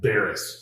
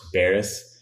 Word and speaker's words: Beres: it how do you say your last name Baris Baris yeah I think I want to say it